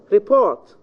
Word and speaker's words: report: Report, the second syllable. However, it can be in the first syllable. Report, subject, object.